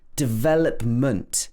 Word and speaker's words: development: And development is the same. Development. We stress the ve again.